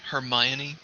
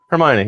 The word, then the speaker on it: Hermione: That's the Greek pronunciation of the character from mythology of that name.